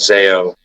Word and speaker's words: Zao: um there's a band that I love called zo and if people have not heard of them it's spelled Zao and the 9s is just in